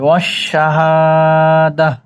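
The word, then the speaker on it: وَالشَّهَادَة: তাহলে মিলিয়েও যেতে পারবেন আর যদি এখানে দম ফেলেন বা ওয়াকফ করেন থামেন তাহলে এ হা উচ্চারণ করে ছেড়ে দিতে হবে ওশাহাদা পড়েন আলিমুলবি ওয়াশশাহাদা পড়েন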